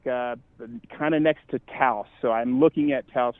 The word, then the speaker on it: Taos: Yeah, Taos, kind of just like how the Dow is spelled, but right.